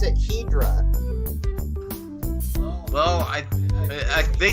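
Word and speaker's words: Hedorah: I pronounce it. Hydra. Well, they say Hedora in the movie, or Hedora, Yeah, or whatever, I right?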